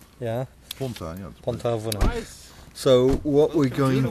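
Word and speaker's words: Pontarfynach: How is it pronounced in Welsh? Which one? But not. Devil's Bridge. Pont-a-Fanech. Yeah. Pont-a-Fanech.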